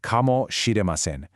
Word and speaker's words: かもしれません: Okay, here it is, kamoshiremasen, pronounced kamoshiremasen.